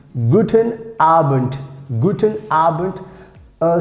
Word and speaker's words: guten Abend: is very useful like guten abend guten arbent guten albert uh sometimes like most of times we pronounce like t this d if it